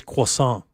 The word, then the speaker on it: croissant: It's croissant.